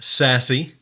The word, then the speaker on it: SASE: Network architecture abbreviated with the acronym SASE pronounced sassy it brings together networking